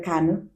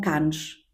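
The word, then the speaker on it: Cannes: Eh, eu entretanto a seguir lembro-me que fui para can. Não digam canes, porque apesar de se escrever c a n é s, não sei o s.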